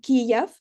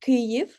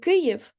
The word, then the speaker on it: Kyiv: little mistake by saying Kiev and not Kyiv. There is a huge difference because Kiev is a Russian pronunciation of the capital of our country, and Kyiv is the Ukrainian pronunciation.